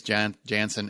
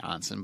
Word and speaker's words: Janssen: I know a lot of people say it's Janssen. It's not Jan. It's pronounced Janssen, but I don't think she cares.